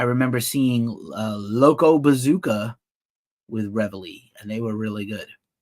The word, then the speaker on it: Reveille: People didn't know how to say their name. I heard people call them Revile. Reveille.